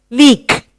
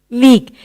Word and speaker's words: leak: Leak. Leak. You hear the letter E, but you do not hear after that A.